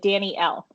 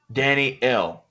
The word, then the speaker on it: Dani-elle: it's like two words, so it's like Danny L. Dani-elle.